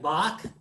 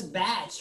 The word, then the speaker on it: Bach: name back bach right bach bach you don't call this batch right you don't talk about